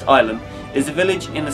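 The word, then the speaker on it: Ilam: Ilum, pronounced Ilum, is a village in the Staffordshire Peak District lying on the River Manifold.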